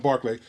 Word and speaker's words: Berkeley: killing Native Americans and William Barclay is pronounced it looks like Burpee but it's put on Barclay William Barclay rose up